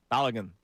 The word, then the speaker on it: Balogun: Balogun.